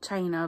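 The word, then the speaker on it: Chyna: in her school who was called China because she was her parents got married in China but it's spelled with a Y I'm sure you can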